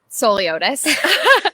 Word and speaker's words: Souliotis: So it's Souliotis. Right as it's spelled.